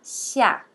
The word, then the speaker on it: xia: digitando ali o X, você não vai ler como se fosse em português, porque se fosse em português, seria xia, seria o som de sh. Mas não é assim que você vai falar, tá? É xia.